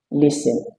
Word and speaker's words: listen: Next, we turn to word ending with sten, as we have it in words like fasten, listen, Avoid saying fast, listen.